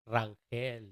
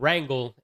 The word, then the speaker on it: Rangel: R A N G E L Rangel, first. Everybody out there, it's not wrangle, it's Rangel.